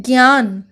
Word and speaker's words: ज्ञान: हिंदी में जो ज्ञ इस प्रकार जो लिखते हैं ज्ञान वाला ज्ञ, तो ज्ञ का उच्चारण आधा ग य के ऊपर चंद्र बिंदु, इस प्रकार इसका उच्चारण होता है ज्ञ।